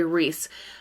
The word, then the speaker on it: Rhys: As Ariel finds out, she has been partnered up with this boy Reese, who his name is spelled R-H-Y-S, so like Rhysand from the Sarah J. Maas series.